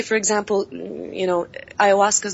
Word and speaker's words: ayahuasca: Oh, ayahuasca? Ayahuasca. I think that's how it's pronounced.